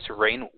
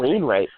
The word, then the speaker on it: Wainwright: Next matchup, at number 7 seed, Rufus Rain. Oh man, I knew I was going to mispronounce it. Wainwright. Rufus Wainwright. Wainwright. Rufus Rain. Rufus Wainwright. There we go.